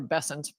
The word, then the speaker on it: Bessent: Um, it's funny that Bent said that because or Bessent, sorry for mispronouncing his name.